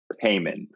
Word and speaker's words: Hyman: There was some confusion on how do you say your name. So if you could say it for me, that'd be great. Heyman. Yeah. I accept any variations though.